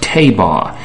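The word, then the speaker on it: tevah: Anybody can get a Strong's Concordance and find out that the word for ark in the ancient Hebrew is pronounced tabah, and it doesn't rhyme with anything to do with the word ark, A-R-C.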